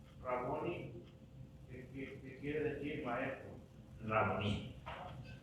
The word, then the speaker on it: Raboní: Raboní. Así es la pronunciación.